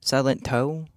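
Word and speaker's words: Silentó: Silent O. Silent toe. Silent Silentto. Is that how you I think that's how you say it. That really feels like the only way to say that name.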